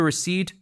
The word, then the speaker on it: receipt: Please keep the receipt with the box. Please keep the receipt with the box. P is silent here.